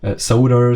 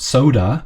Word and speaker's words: Sodor: pronouncing this one right Sodor soda it's it's not soda but it's like Sodor I you you know